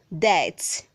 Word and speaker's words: debt: Word 129 says debt. Debt. The B is silent.